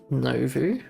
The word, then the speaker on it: Novu: Novu is French and pronounced Novu. Oh, here, then the name of the project comes from French word nouveau, meaning new. Nouveau.